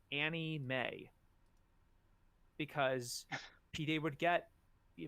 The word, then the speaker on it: anime: had to put in parentheses anime parentheses pronounced Annie May because PD would get